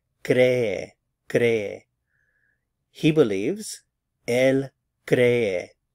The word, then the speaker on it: cree: Again, two syllables, stress on the cre. Cree, cree. He believes, él cree.